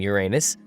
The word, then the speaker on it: Uranus: a big cosmic joke i'm saying uranus because i believe people are embarrassed by uranus your anus yeah i pronounce the planet's name uranus which is likely closer to the initial intonation of the name of the god after it was designated